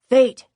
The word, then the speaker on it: Phaet: Fate, Umbreel says, because my name's pronounced fate, it sounds like destiny's calling every time someone addresses me.